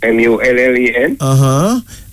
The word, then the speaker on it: mullein: Herbs like mullein. Like mullen.